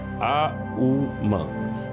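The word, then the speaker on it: ॐ: करते हैं तो उसके उसके जो लय है वह कुछ इस प्रकार है आ उ म तो उसको आप मिलाएंगे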